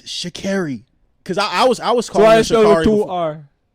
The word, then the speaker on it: Sha'Carri: No, she's like it's Sha'Carri. Cause I was calling her Sha'Carri. So I spelled with 2 R.